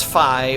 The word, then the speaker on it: Fi: And I know the proper pronunciation of her name is Fi, but I'm just probably going to call her Fee because it's a little more comfortable.